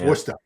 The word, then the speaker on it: Worcester: s t e r so somebody would look at that and say Worch Worcester but I've pronounced it Worcester forever. Okay it's Wooster Wooster.